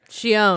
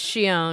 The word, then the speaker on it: Xion: Shion. Xion, which I didn't know we were mispronouncing for. Are we What? really? We were. Xion? It's Shion.